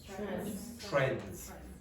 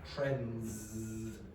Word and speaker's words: trends: Trends. Now notice, this is elision. This is an example where an English speaker will probably not pronounce the D. So they'll say trends, instead of trends.